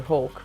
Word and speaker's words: Hoek: Bolo requested Matthias Bryan and, as I pronounced it earlier, Spiker Hawk, which is like Speaker Hawk, I guess.